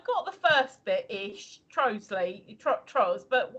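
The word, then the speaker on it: Trottiscliffe: Trosley.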